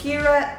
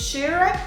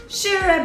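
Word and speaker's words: Kyrre: discovery for me because i thought it was kira so now i know it's shira why it is so important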